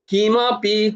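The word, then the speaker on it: কিমপি: পরম কিনাপি তত কথা উচ্চারণটা কি হবে না কৃষ্ণম কিমাপি কিম আপি কিম আপি কিমাপি ততম আহাম না জানে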